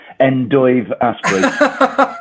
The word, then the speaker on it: Dave Astbury: It's endive Aspbury. I was I was wondering how you're uh you're pronouncing yours, but I was just turning to